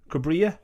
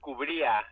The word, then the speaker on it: Cubria: Is it Cubria is the right pronunciation? Cubria? That's very good. My mom says Cubria if you want to get very Mexican about it, but you did a good job.